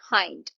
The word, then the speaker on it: hind: HIND, इसका pronunciation है हाइंड.